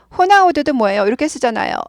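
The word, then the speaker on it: Ronaldo: 호세 예 그래서 어 호나우두도 뭐예요 이렇게 쓰잖아요 로날드 아니고 호나우두 이렇게 읽죠 호나우두이 아도 발음 나고도 흐 발음 나는 거예요 영어랑 좀 다릅니다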